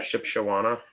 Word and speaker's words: Shipshewana: something I was ship she wanna ship it's Shipshewana early says how the locals pronounce it Shipshewana yeah well that's how you you spelled it